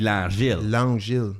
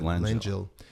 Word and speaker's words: Langille: Well, if we were in Quebec, it'd be Langille. Yeah, but he pronounces it Langille.